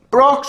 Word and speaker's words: Brock: At least you made the point that Brock's Onyx, not Brox's Onyx, you illiterate chuckle fuck. Why the hell did you wait until now to correct him that it's Brock's Onyx and not Brox's Onyx?